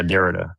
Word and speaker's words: Derrida: You were talking about like Dorita or Dorita. I don't know how you say his name. Postmodern. Yeah, Derrida.